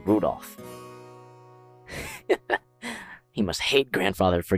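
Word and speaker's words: Rudolf: just this anyway this guy's name is pronounced Rudolph he must hate grandfather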